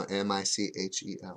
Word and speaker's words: Michel: So we got here, first card out, Michael Dion or Mikhail? How do you say it? Would that be Marcel? No, M-I-C-H-E-L. Oh, Michel. Michel. Michel Dion? Michel Dion.